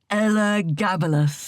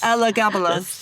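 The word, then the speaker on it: Elagabalus: but first I have to learn how to pronounce that man's name properly. Should we practice? Ella Gabalas. Ella Gabalas.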